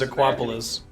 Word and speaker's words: Aquapolis: to be crazy challenging I thought you guys were just identically mispronouncing Acropolis oh no no no it actually is aquapolis it's like Elmer be